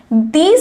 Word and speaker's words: these: দিজ আমরা কখন ব্যবহার করব? এইটার উপর আমি একটু জোর দিয়ে উচ্চারণ করব এই ওয়ার্ডটাকে, দিজ।